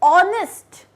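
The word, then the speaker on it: honest: ऑनेस्ट, ऑनेस्ट में H silent होता है, तो वर्ड क्या है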